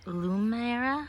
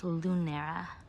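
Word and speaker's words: Lunaria: in my past videos i've been saying lumiera with an m but it's lunera what honestly it doesn't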